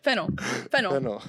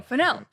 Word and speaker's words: Fennell: Fennell. No, Fennell.